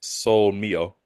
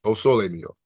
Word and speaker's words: O sole mio: I would assume it's Sol Mio. Close. O sole mio.